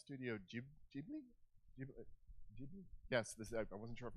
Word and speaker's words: Ghibli: Is it pronounced Studio Ghibli? Ghibli?